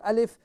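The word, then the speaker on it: ألف: Okay, how do we pronounce the letter Alif? It is Hamza, so it is pronounced from the bottom of your throat, and you will say A or you will say Alif. Alif.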